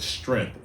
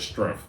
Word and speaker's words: strength: So, hopefully, I said strength instead of strength.